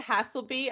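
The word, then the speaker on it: Haselby: him he didn't a hassle be I would just normally say that if it was gonna be hassle me there'd be two S's but you know what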